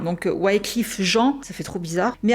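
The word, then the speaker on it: Wyclef Jean: Vous m'avez dit ça se prononce en français du coup c'est des haïtiens. Donc Wliff Jean, ça fait trop bizarre.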